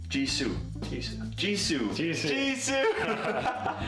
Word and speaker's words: Jisoo: Jisoo. Jisoo. Jisoo. Jisoo. Jisoo. Right? Jisoo. That is 100% how you write Jisoo's name in Korean.